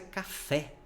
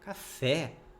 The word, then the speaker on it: café: sentar no sofá não a mesma coisa é café você não fala CAF Ah vou tomar um café com leite não café Beleza outro exemplo cocô